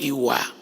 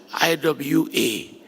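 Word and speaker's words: Ìwà: the Euroba people of West Africa is called Iwa. I wa And I will say you should join me in pronouncing it.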